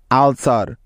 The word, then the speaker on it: ULCER: যেমন দেখো, ULCER আলসার।